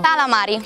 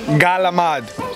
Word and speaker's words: calamari: Calamari. Galamad.